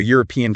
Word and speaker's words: European: So you say a university or a unique experience or even a European country.